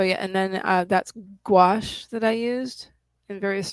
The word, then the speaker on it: gouache: used in similar ways it's spelled g o u a c h e oh wow it's a French word apparently cool I've never heard